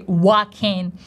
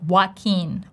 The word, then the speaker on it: Joaquin: They don't say Joaquin, they actually say Joaquin, as if his name would start with what sound, same as Y, Joaquin, Joaquin. And we have big ah sound, but the stress goes on the second part of his name, keen, long E sound, tense E, Joaquin, Joaquin, Joaquin, Joaquin, once again with me, Joaquin.